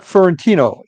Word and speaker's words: Fiorentino: are back at paranormal Stakeout my guest fiorentino am I pronouncing that correctly yes that's good okay